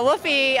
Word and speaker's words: Whuffie: what is woy right so uh wolfy uh which is spelled w h u ffi e not like woof woofy uh oh I'm losing my